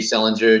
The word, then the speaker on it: Selinger: It's Selinger, just like JD Salinger, Catcher in the Rye.